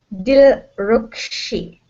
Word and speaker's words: Dilrukshi: Sorry, I don't know how to pronounce it. It's Dilrukshi.